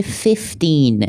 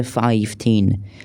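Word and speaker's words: fifteen: دوستان اشتباه یاد گرفتن کلمه پ میشه فا ولی پ۵ میشه فیفتین نمیشه فاین تلفظ ش دقت کنین ف ف پس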